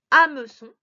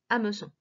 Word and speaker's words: hameçon: le donne 1 h un hameçon voilà il est muet on l'entend pas mais il faut le